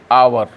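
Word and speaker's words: hour: तो आवर, एच का उच्चारण इसमें नहीं हो रहा है, इसलिए एन आवर होगा। लिखा रहा है कॉन्सोनेंट से लेकिन उच्चारण में एच का उच्चारण छुपा हुआ है, इसलिए ऐसे शब्दों के पहले क्या लगाएंगे?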